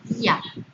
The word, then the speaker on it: día: La palabra día lleva tilde sobre la I. Entonces, es una vocal cerrada tónica, una vocal cerrada tónica. Lleva tilde en la vocal cerrada y está unida a una vocal abierta. Al llevar tilde se rompe el diptongo. Esto no forma diptongo, es un hiato.